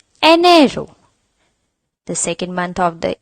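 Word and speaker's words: enero: pronounced as an arrow there is an e in the beggining and E in Spanish is pronounced as a so it will become an arrow the second month of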